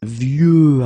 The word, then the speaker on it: vieux: Okay, of course you've got this X at the end, but you don't pronounce it. Okay, so it's vieux arbre, and then vieux actually will have a second masculine form, and it's vieille.